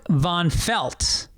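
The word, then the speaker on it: Vonfelt: the frozen tundra uh my name is von felt pronounced like the fabric growing up i was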